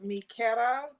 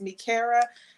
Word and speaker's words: Mikera: I am the CEO and founder of Mikera Beauty, or if you want to pronounce it in English, it's Mikera. I just want to say thank you.